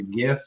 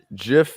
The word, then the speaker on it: GIF: It's a GIF. It's not a GIF. There's certain ways you got to do things. Well, GIF is actually how you say it. The creator said GIF.